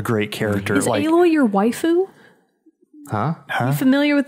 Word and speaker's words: waifu: Like a lot of gamer guys are like, she's my waifu. So I thought you were saying like wife thing. Yes. So it's actually like a ridiculously pronounced way of saying wife.